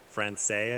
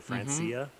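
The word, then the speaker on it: francesae: chat there it's the skiffia francaise i think is how you pronounce it or francia yep candy put the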